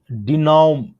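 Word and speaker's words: dénouement: Verdict bye अ 5 जज bench is a welcome डिनोम। इसका pronunciation होता है डेम्यूनो। इट्स a French origin word, और इसका प्रोनाउंसिएशन होता है डेनिमो, राइट।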